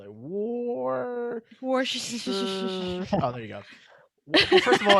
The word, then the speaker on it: Worcestershire: Yo, you guys know how to say Worcestershire sauce? How do you say that sauce? I thought it was Worcestershire sauce. It's Worcestershire sauce?